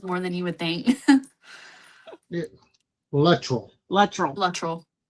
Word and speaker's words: Luttrell: It's it it does get said Latril a lot and it's absolutely okay, but we say Latril. That's that's how pronounced it.